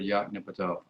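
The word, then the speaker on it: Yoknapatawpha: probably have pronounced it they would pronounce every syllable equally dean said that william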